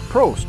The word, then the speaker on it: Prost: company how do you say it broast yeah prost there we go brewing company we have four